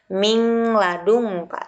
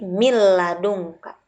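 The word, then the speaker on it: مِن لَدُنْكَ: Mil ladungka, bukan min ladungka, tetapi mil ladungka, dilebur.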